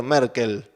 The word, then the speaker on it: Merkle: es esta persona que se debe pronunciar Merkel pero se escribe merkle que los requisitos sean